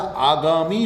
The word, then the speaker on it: आगामी: आगामी होता है या आगामी होता है, शुद्ध रूप है आगामी।